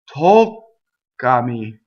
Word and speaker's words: toccami: Toccami. toccare, toccami. Same thing. You go up to the K sound, you stop, you go up like you're gonna form the K, you don't say it.